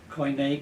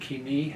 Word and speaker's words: Koine: And Koine, Kini, I'm going to switch, by the way, between Greek, modern Greek pronunciation and ancient Greek pronunciation of Greek all the time.